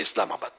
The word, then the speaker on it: اسلام آباد: اب جب بعض لوگوں نے اسلام آباد، حیدر آباد، تو یہ تھوڑا تکلف کر رہے، ایسا نہیں ہے، حیدر آباد بولو، مد بولنے کی ضرورت نہیں ہے، اسلام آباد بولنے کی ضرورت نہیں ہے، اسلام آباد صحیح تلفظ بھی ہے، اسلام آباد.